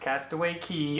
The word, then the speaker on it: Castaway Cay: what it's called is a castaway key or Castaway Cay but it is pronounced castaway key according to the Disney representative that did my